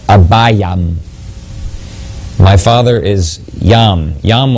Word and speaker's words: Abijam: Now it's interesting here, Abijam, the name means my father is Yam. The pronunciation might be closer to Abayam.